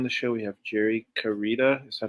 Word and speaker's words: Carita: Today on the show, we have Jerry Karita. Is that how you pronounce it?